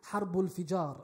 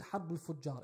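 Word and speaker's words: Harb al-Fijar: which was known as Harbul Fijar. I mispronounced it last week. I said Harbul Fujar. It is Harbul Fijar.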